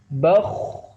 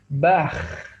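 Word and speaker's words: بخ: Kha, khi, khu, bakh. Ya, tidak dibaca bah, tapi bakh.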